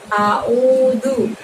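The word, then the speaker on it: أعوذ: A di situ kamu keluarkan hurufnya dengan membuka mulut kamu ya teman-teman, dengan membuka mulut kita. A. Ul. Nah pada saat karena pakai huruf ain di situ mengeluarkannya cukup dari tenggorokan, maka tidak ada gerakan mulutnya.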